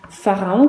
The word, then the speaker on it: pharaon: Pharaon, combien de syllabes? Pharaon. 3 syllabes. La première, c'est fa, que j'écris P-H-A. Ensuite, ra. Ensuite, on. Le on de marron, c'est le O et le N.